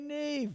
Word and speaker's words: Niamh: you're a bit older, you spell Neve with the B, which I don't. I just spell it with the H.